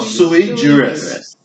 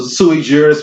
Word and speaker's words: sui juris: Pronounce this again. What is it? Sui Or sui juris.